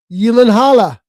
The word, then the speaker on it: Gyllenhaal: Gyllenhaal.